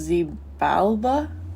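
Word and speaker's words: Xibalba: Uh I think it's pronounced Z Balba.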